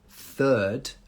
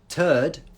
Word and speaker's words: third: know first second and third but if you don't have the the you say turd and turd means so you have to get that correct because you don't want